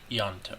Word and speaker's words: Ianto: hard to say like it's almost as if it was spelled with a y yanto yeah pretend it's y-a-n-t-o